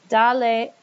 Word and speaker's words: dale: And I don't need to write in an accent mark because the A had the stress. And when I add another syllable, the A would still have the stress, so we're okay.